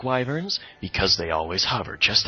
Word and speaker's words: wyvern: I absolutely loathe wyverns.